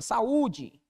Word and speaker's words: saúde: dona paroxítona até porque quando você para o saúde a sílaba tônica recai aqui ó na penúltima sílaba saúde Beleza vou falar tá